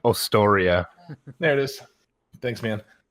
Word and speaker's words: Ostoria: And so the lore behind this was the giant world of Austria, Ostoria. So pronunciation. Ostoria.